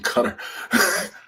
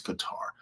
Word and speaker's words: Qatar: and she was like is it cutter or Qatar? Like they're confusing me on TV and I said it's Qatar. I said only silly people who follow others say cutter. It's Qatar cuz the country's name is Qatar.